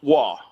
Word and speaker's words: Roy: Like uh so growing up my dad would always correct me with the same thing. Patrick Wah, right? But it's spelled Roy. So I'm like, "Hey, look, I got a Patrick Roy." He's like, "That's W." I'm like, "No, it's Roy. Sound it out."